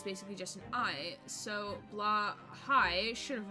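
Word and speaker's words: Blåhaj: of it yet so the letter a with a circle above it is pronounced kind of like shaw just without the sh and the j at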